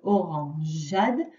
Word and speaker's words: orangeade: Orangeade, bourgeon. Ici, ça s'écrit donc GEA dans orangeade. On voit ici que le E est muet.